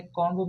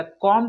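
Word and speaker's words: comb: ये B silent है, कॉम्ब में बी साइलेंट है, थंब में भी साइलेंट है। तो इसे हम लोग बॉम्ब नहीं बोलेंगे दोस्तों, बॉम्ब बोलेंगे। उसी तरह कॉम्ब नहीं बोलेंगे, कॉम बोलेंगे।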